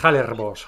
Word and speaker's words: Hallerbos: se llama, empieza con H, no sé si pronuncio bien, yo pronuncio Halle, Ah, Halle, sí, Hallerbos, Hallerbos.